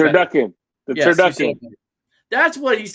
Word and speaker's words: turducken: Turducken. Turken. You said it right. Turducken.